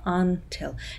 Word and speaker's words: until: Until, ударение на tell, until, либо сокращенное просто tell.